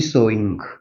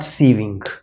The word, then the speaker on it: sewing: Pronunciation must be सोइंग, नॉट सीविंग. सोइंग.